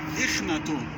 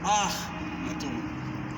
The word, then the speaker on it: Akhenaten: That's why some people will tell you in Arabic, Ikhnatun. No, Akhnatun. Why Akh? Because of this huge bird is pronounced like so.